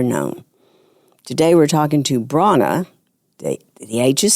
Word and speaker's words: Brahana: I have ever known today we're talking to Bron the the age is silent Bron marksberry and she is the second